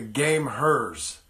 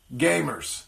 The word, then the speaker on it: the*gameHERs: I am so sorry I've been calling it the game hearse for the entire time I've been talking about it and I just realized an hour ago probably that it's actually pronounced gamers it's just spelled game hers so I'm very sorry